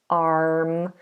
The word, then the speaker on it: arm: where we left off AR it may have the letter r in it but we do not pronounce that we don't do R arm we do a nice open long vowel sound a so the tongue should be down the mouth wide ar ar arm and that's the same